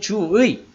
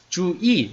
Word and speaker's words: 주의: 단어의 첫 음절 이외의 의, 이 같은 경우에는 이거는 의로 발음하는 것이 원칙이에요. 그런데 이로 발음하는 것도 허용한다 라고 되어 있어요. 예를 들면 주의, 주이 모두 가능하죠.